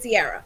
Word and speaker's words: Ciara: Ciara, yeah.